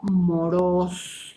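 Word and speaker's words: μωρός: y esta palabra viene del griego moros con acento en la o moros te suena la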